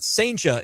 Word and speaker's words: Cijntje: It's Cijnt. Yeah. J-E. Yeah. You got close. Cijntje. J-E. No additional L at the end. Got it. No, See, I'll get there. Yeah, there you go. But Cijntje is how you say it.